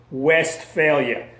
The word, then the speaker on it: Westphalia: the peace of westphalia that is spelled w/e st west ph al I a West failure that's what ended the